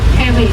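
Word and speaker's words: GB: Tulisannya G sama B tapi G-nya dibaca H kalau pelafalan dalam bahasa Jerman dan perman. Jadi bacanya heb.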